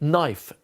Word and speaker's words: knife: So even though a knife is spelt with a K, this is a phonetic memory system, which means you only go with what you can hear. It's phonetic. So you don't hear the K.